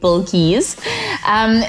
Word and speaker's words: Bilqees: to pronounce my name but it's like a bowl and keys then you get bulkies so i am born